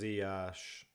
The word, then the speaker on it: Ziyech: Just to help, Ziyech is pronounced Ziyash. Ziyash. Yeah, it's I keep on getting mixed messages with that. Because Dutch people say like Z with like a G sound at the end. Ziyech. Like I can't even do it because I don't speak Dutch. But then they say, oh, well, you should do like the French pronunciation because of where he's from.